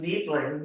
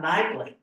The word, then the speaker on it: Niebling: And mine's Niebling, not Nibling.